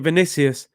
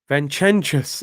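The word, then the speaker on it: Vinícius: Robbie pronouncing Vinicius. Vincentius is mad funny. Is that how we pronounce his name?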